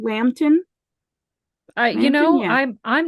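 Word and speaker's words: Lambton: sir hedworth lambden L MB t o n Lampton I you know I'm I'm not going to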